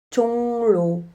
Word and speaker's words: 종로: 종로. 받침이 이응이고 뒤에 오는 글자가 리을로 시작했습니다. 받침 이응은 으로 발음합니다. 하지만 리을은 르로 발음하지 않고 느로 발음합니다. 종로는 종노로 발음합니다.